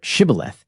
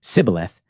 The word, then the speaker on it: Shibboleth: In Judges, it is recorded that the Israelites were given the password Shibboleth that they might ford the Jordan in safety. When the Ephraimites were required to pronounce the word and they replied Sibboleth, they were swept away.